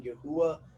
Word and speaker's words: Yahuwah: that's why our fellowship uses the pronunciation Yahuwah rather than any other pronunciation you've probably heard. Like I know there's others like Yahweh and all that, but I believe Yahuwah is the most valid due to all you